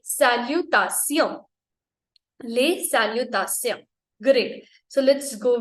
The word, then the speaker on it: Les: Again S is silent, लिखना है, बोलना नहीं है.